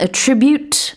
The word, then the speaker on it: attribute: 자 앞서서 봤던 attribute a to b 기억나시죠? A가 B분이다라고 할 때 강세는 tribute 들어 있었어요. 자, 이번에는요. 속성 특징이라는 뜻에 attribute트예요. 같은 스펠링이지만 명사고 강세는 아에 들어 있습니다. attribute.